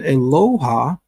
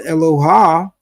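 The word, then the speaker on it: אלוה: term is eloha eloha now we get the pronunciation eloha from the mtic scribes who place under the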